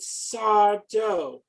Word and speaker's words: Sardo: introduction of the beloved sarto no mr accent on the dough and this involved a